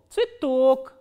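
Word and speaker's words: цветок: ye, t, o, k, and the stress is on o. So, how will you pronounce this word? This ye will be reduced. You have to keep that in mind. So, this ye will be pronounced as e, tsui and tok. Tsitok.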